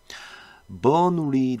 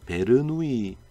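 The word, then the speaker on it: Bernoulli: 자, 그래서 discrete probability distribution에는 뭐 여러 가지가 있는데 오늘은 대표적으로 요 세 가지 버누리 디스트리뷰션입니다. 영어식 발음은. 근데 우리나라 사람들이 이걸 이제 베르누이 분포라고 부르고요.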